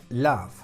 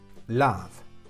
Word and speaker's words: love: El verbo amar, love, love, dove, love.